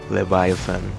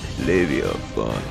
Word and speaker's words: Leviathan: I just like how the Russians pronounce his name. In English, it's relatively lame. Leviathan. It also has some aura, not going to lie, but Leviafun is just better.